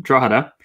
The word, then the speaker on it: Drogheda: and publishers down in Drogheda, which is the correct pronunciation of it for everybody, they published Warhammer Fantasy Roleplaying Game.